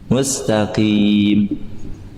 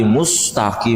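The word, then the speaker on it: مستقيم: Nah iya dimonyongkan kemudian Sin apa sukun mustaqim perhatikan banyak di antara kita bacanya Mus mustaqi mustqim Mus kasihan sinnya enggak istirahat tapi enggak usah juga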